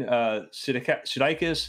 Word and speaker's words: Sudeikis: Is Jason Sudeikis.